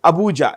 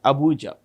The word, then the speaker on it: Abuja: let's keep it as hard Nigeria's capital is Abuja a bu u j a Abuja by the way who is the current president